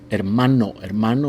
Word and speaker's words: hermano: him haa hamong and the H in Spanish has no sound remember that iloo hermano is brother and Mana